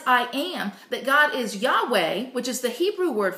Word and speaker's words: Yahweh: It's spelled Y-A-H-W-E-H.